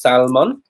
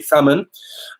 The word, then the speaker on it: salmon: So this is salmon. I'm joking. Salmon, always without the L.